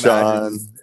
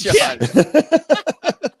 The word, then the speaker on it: Shjon: It's Sean. Yeah, it's Sean.